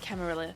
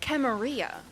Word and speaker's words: Camarilla: Boston, was voice acting, she said Camarilla. I'd always thought it was Camarilla. You've heard both? Okay, I was like, oh my god, have I been saying it wrong all this time? Okay, I'm gonna say Camarilla.